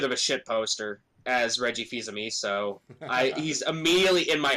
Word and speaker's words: Fils-Aimé: that he was taking over, and he is almost as good of a shit poster as Reggie Fils-Aimé.